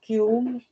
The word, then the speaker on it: kiln: It's a silent L, yes.